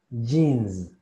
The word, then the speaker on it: jeans: Y con la Z, jeans, jeans, jeans, jeans. Así es como se pronuncia pantalón de mezclilla en inglés.